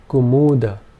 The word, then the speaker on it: kumuda: Kumuda. If both the first two vowel sounds were long, this would be said as kumuda. Kumuda. And finally, this would be pronounced kumuda. All three vowel sounds being short.